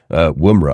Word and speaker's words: Woomera: So yeah, take us to Australia, and I'm going to inevitably pronounce this wrong. I'm going to go with it, Woomera.